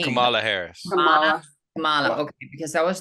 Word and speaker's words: Kamala: I think that Harris, Kamala, how do you pronounce her name? Kamala Harris. Kamala.